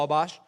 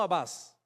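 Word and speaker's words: Atbash: Además, fueron capaces de crear una ley de interpretación conocida como Abbash, no abas.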